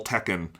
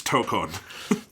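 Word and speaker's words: Tōkon: How many people do you think will be calling it Marvel Tekken without knowing that it's Tokon.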